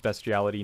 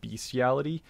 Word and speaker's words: bestiality: and by the way it is pronounced bestiality not beastiality uh that's something you